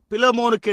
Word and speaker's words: பிலேமோன்: எனவே பிலேமோன் என்று பின்னால் உள்ள யாரோ ஒருவர் கூறினார். அதுதான் உண்மையிலேயே சரியான உச்சரிப்பாய் இருக்கிறது என்று நான் நினைக்கிறேன்.